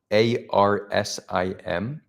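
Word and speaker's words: ערסים: That would be pronounced Arsim.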